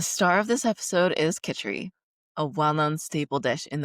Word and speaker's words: Kitchari: Kitchari, pronounced Kitchari, has been used therapeutically in India for thousands